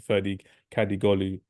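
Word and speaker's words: Ferdi Kadıoğlu: So I'll go for Ferdi Kadigolu. That's how you pronounce his name, and that's how you type his name as well.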